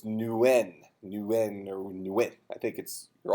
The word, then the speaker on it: Nguyen: essentially whatever the shortest transition you can make between N and W. So it's Nguyen or Nguyen.